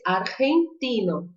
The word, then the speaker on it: argentino: Porque ela é dessas pronúncias que misturam o R com o J, com o som do J ou do G aqui na garganta. Então eu vou dizer argentino, argentino, Argentina.